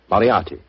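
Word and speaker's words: Moriarty: I'm afraid I'll have to begin calling it the way it looks. M O R I A R T Y. Moriati. Moriati.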